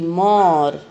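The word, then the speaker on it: more: W A L K, वॉक, वॉल्क नहीं बोलते, तो यहाँ पर ये L है वो साइलेंट है। M O R E, मोर, मोर ए नहीं बोलते, मोर बोलते हैं, तो ये E है वो साइलेंट है।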